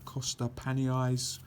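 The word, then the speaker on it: Costa Panayi: tornado low level uh cost pan eyes that's how you pronounce his name uh excellent 3D shooter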